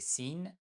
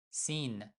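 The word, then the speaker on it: س: La lettre numéro 15, la lettre 16, c'est de Sin, son nom est Sin, mais on prononce tout simplement comme S.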